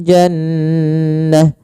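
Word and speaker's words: جنة: Kemudian berfal jannah. Jannah. Maka di sini nun tasdidnya kita namakan dengan bacaan gunah. Cara membacanya adalah suara nunnya ditahan dulu n ya. Jannah, tidak langsung jannah.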